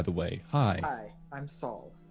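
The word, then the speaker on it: Sol: Hi, I'm Saul. Saul. Nice to meet you. That's spelled S-O-L.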